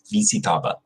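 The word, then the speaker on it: visitaba: power but that's how you have to say easy table not the American Way like visit BZ daughter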